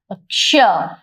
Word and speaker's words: क्ष: ये हो गया हमारा क्ष, जहां क और श दोनों का हल्का हल्का उच्चारण आता है।